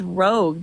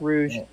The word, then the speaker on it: Rogue: Number one, it's Rogue. Do you not know your comics? No, it's Rouge.